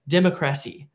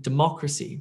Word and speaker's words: democracy: the word stress goes and you may say democrasy democrasy and that sounds completely different than democracy democracy so where you're putting the emphasis or